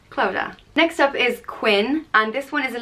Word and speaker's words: Quin: in County Clare sorry it's spelled q-u-i-n and pronounced just Quinn in Irish it's quincha